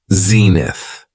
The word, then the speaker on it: zenith: next noun is Zenith it has two syllables and the stress is on the first syllable Zenith when talking about the